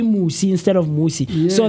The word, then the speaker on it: Musi: My name, the reason for that is that my name is Musi, and a lot of people tend to mispronounce it and misspell it as well.